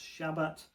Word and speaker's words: shabbat: uh spelled s a b- a t but pronounced shabbat.